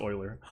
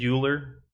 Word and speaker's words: Euler: You're right, it is pronounced Euler. How did I say it? It totally is pronounced Euler.